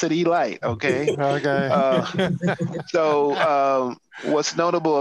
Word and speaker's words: Elite: team called the baltimore e-light giants spelled elite but it's pronounced e-light that's important don't be a rookie pronounce it e-light okay okay so what's